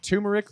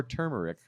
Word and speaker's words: turmeric: Clementine, cantaloupe, carrot, pineapple, lime, and turmeric or turmeric for whoever likes to pronounce it either way. I'm told both are technically correct.